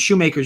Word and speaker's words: Shoemaker: make of it and shoemaker's just been a schumacher i'm not sure how i was pronouncing makers right shoemaker so he's uh he's